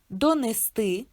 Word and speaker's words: донести: Слово ти дає підказку, що наголос падає на и: донести, нести, принести, перевести, перевести, віднести.